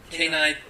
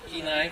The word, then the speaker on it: Kenai: she comes to us all the way from Kenai, Pennsylvania, and Alaska. Did I say it right? Kenai? Okay, Kenai, right?